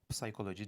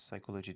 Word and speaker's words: psychology: Mesela “psychology”; /psaykoloci/ demiyoruz, /saykoloci/ diyoruz. Veya “pseudonym”, yani takma isim, sahte isim”.